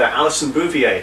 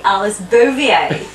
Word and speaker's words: Alice Bovier: joined here with uh allison bouvier today actually there we go again everything he's always getting my name wrong it's actually alice bovier how did you forget